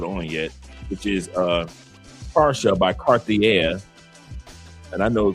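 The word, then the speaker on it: Pasha: yet, which is uh para by Cartier. And I know Cartier is not how you pronounce it in French, but it's para. P A R S H A.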